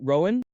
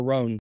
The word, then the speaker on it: Roan: Yeah, I'm old- Roan, like I don't know, Roan, Rome, like Sown.